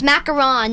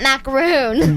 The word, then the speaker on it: macaron: Just to be clear, people, it's macaron, not macaroon. But you told me there's two different ones.